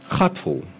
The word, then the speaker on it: Gatfol: So Gatfol. It's G-A-T-F-O-L with a soft G.